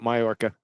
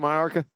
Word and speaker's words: Majorca: We called it Majorca. Am I pronouncing it wrong? Majorca. Yeah. It's Anyway. not Majorca.